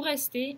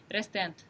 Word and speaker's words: restent: Вот это окончание «ent» никогда не произносится. Боже, вас упаси, прочитать его как «restent». Нет, «il reste». Воспримите его, как будто бы там была просто буковка «e».